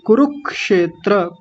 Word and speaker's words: कुरुक्षेत्र: जी कुरुक्षेत्र कुरुक्षेत्र देखिए ध्यान रखिए र पर छोटे ऊ की मात्रा और ये जो बनेगा क्षेत्र ये कुरु के साथ क की आवाज आएगी कुरुक्षेत्र कुरुक्षेत्र क्योंकि अलग-अलग करेंगे